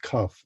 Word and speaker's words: Cuffe: my grandfather's surname was definitely pronounced cuff and you know as in rhyming with tough and uh so that